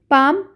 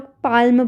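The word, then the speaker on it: palm: pronunciation आपको सीखनी पड़ेगी पाम पाम में एल का साउंड नहीं आता है कई बार लोग पालम पढ़ते हैं तो वो गलत है ठीक है तो एल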